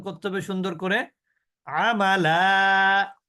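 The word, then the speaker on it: عملا: আমালা, থেমে গেলে হবে কি মাদ্দে ইওয়াজ।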